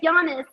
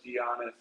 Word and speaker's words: Giannis: Like the basketball player. That's what people say now, because they would know that. Before, it was always like, how do you spell it? Giannis, Johnny. And now since the NBA player, he made my name famous, now everybody knows Giannis.